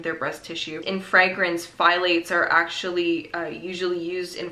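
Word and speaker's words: phthalates: were saying they're called I call them file eights and that's how I've heard it pronounced but whatever doesn't matter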